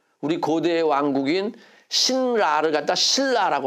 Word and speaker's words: 신라: 이렇게 발음해야 되는 거예요 신라는 신하고 라를 자를 수 있어요 못 자르죠 그러니까 어떻게 발음해야 돼요 신라 이렇게 발음해야 되는 거예요 자 그래서 선능 이걸